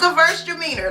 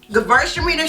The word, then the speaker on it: Gewürztraminer: I love me a Gewürztraminer, okay? And if you're trying to figure out how to say it, girls are meaner.